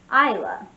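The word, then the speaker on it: Eila: use this name but i love the spelling e i l a it's like the way you would pronounce eileen isla the e i l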